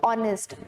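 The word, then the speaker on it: honest: एक तो you sounding words, European same category में आता है, और words with begin with H जिनमें एच साइलेंट है, जैसे ऑनरेबल, ऑनेस्ट, आर हो गया, एयर होता है HEIR।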